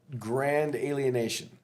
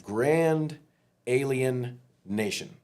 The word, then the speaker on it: Grand Alien Nation: So jumping back to e-break, let's jump back to grand alienation. Yes. Grand alien nation. Yep. Is the right way to say that.